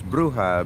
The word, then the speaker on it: bruja: to know what is a ruja witch it's bruja b-u-r-j-a h is silent in spanish uh so it's a bruja